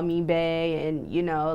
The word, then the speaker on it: Bahja: Now, it's pronounced like your name, but it's not spelled like your name. Right. So Bae, you spell the slang term Bae is Right. like B-A-E, and your name is spelled B-A-H-J-A.